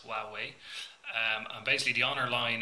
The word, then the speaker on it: Huawei: Basically, Honor are a division of the company called Huawei, which many of us struggle to pronounce, but that's how it's pronounced, Huawei.